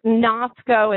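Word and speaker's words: gnasco: Gus now in English usually that g sound um would drop out because English doesn't do that GNA sound very well but Latin does it a lot so think Nasco and notice even though it's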